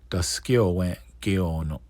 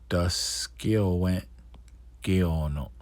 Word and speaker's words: Taskalowe:n ge:ono: Oneyo:tka If you're Mohawk, Ganye:t ge:ono Ganye:t ge:ono And then if you're Tuscarora, Taskalowe:n ge:ono Taskalowe:n ge:ono All right.